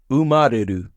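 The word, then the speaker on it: 生まれる: Umareru. To be born. You have to remember the u part of this word to read it.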